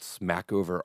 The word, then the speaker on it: Smackover: It was called Smackover, Arkansas. It was actually like Sumacover. It was French and no one could pronounce it.